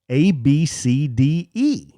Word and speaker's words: ABCDE: had a legit kid in his school named A B C D E.